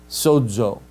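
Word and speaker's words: σῴζω: So the Greek word, if I have the zeta in the middle, sodz, sodzo. But if it's at the front of a word, zoe, for life, right? So sodzo, zeta in the middle, zoe, zeta's at the beginning. So in the middle, it's a sibilant. At the beginning of a word, it's not, right?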